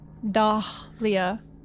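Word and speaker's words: Dahlia: Dah Leah used me to summon God.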